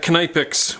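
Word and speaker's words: Knipex: K-N-I-P-E-X. I would pronounce that Knijpex with my Dutch background.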